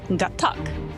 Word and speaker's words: Gatac: No, it's Gatac. That's how you say it.